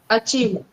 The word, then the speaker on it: achieved: The V sound has to be pronounced with biting your lip. B. Achieved. Achieved.